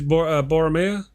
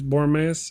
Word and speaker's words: Boromir: He was Boromea. That's Boromir.